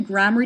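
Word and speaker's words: Gramarye: Zach and valan grammar I've heard gram and I've heard grammar I guess I pronounce it grammar just because it looks like the word grammar and then re at the end so I guess just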